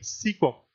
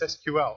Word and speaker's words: SQL: and they called it SQL now this is where I voice one of my pet peeves all the time because I'll hear people say sequel it's not sequel its SQL it's an initialism not